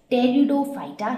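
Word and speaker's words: Pteridophyta: they were known as teredo phyta here p is silent and those with those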